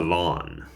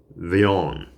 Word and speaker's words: Villon: was uh about Francois Leon but I was pronouncing it the lawn and it is veon I've been uh corrected by a very good